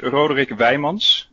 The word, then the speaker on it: Rodriguez: so my name actually it's it's rodriguez as we say it in dutch but i wouldn't expect